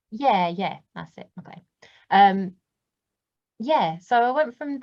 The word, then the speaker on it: MacLean: Or MacLean, I can't remember how you say it. Like John McClane, like Die Hard. Yeah, that's it, MacLean.